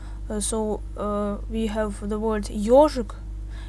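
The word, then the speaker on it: ёжик: So, and also if we have the letter yo in the word, the stress is on the letter yo. So we have the word ежик, it's a hedgehog.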